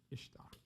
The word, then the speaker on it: Ishtar: Tamuz's spouse's name was IS pronounced Easter. Ishtar. You pronounce it Ishtar. They pronounced it Easter.